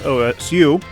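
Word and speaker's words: 押忍: something different got it uh and then the pronunciation that she says OSU is a casual greeting in Japan in Japanese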